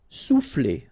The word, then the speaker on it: souffler: Souffler, okay? O and U will produce OU, sou, souffler.